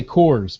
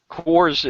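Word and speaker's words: CORS: those CRS ones I I want to say cores but you know well you're correct you 100% correct that's how it's pronounced Kors is and it stands for continuously operating Reference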